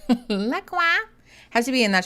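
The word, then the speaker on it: LaCroix: I know it's pronounced Lacroy, but Aaron and I call it Laqua.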